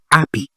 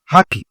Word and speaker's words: happy: Mais en français, en anglais, il faut prononcer H.